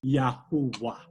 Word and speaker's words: Yahuwah: It is Yahuwah. That is how we are to pronounce the name of God.